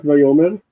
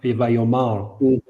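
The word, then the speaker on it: ויאמר: Look at the pronunciation of that word, not vayomer. Oh yeah, because it's in the Adnach vayomar.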